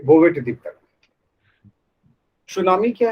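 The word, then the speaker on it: tsunami: ये जो है टी साइलेंट होता है, तसुनामी लिखाता है वो, है ना। और जापानी शब्द, जापानी भाषा में तसुनामी लिखाता है, लेकिन टी जो है साइलेंट हो जाता है, इसलिए इसे हम लोग सुनामी कहते हैं।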